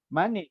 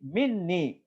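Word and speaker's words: مِنِّي: Itu bukan mani, tapi minni. Karena itu asal dari min dan ya mutakalim. Jadi minni, dariku maksudnya.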